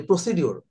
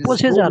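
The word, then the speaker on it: procedure: হচ্ছে যে এই যে আমরা বললাম যে প্রসিডিউর প্রসিডিউর বলে কোন শব্দ আসলে প্রসিজার হবে স্যার এটা প্রসিজার প্রসিজার প্রসিজার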